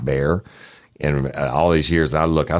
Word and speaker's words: Bexar: And she said, hey, Woody, it's actually pronounced Bear.